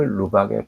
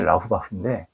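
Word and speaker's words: Laubach: 있습니다 우리나라에서 번역을 프랭크 루박의 편지라고 번역을 한 겁니다 원래 이름이 라우바흐 그것을 우리나라에서 그냥 발음하기 어려우니까 루박이라고 그냥 바꿔 놓은 겁니다 그가 1915년 필리핀 선교를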